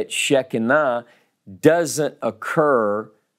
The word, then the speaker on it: Shekinah: We say it in the South with three syllables. We do this to a lot of two-syllable words. In Hebrew, it's really Shekinah. Shekinah. S-H-K-N-E-E is the first syllable. It's really not two syllables.